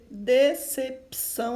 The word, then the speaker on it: decepção: Decepção, olha assim, esse P aqui, ele é mudo, tá? Depois do P tem o C cedilha.